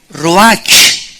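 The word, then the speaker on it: רוח: es la palabra hebrea Roach que se pronuncia ro La ch en el hebreo se pronuncia como j y que es la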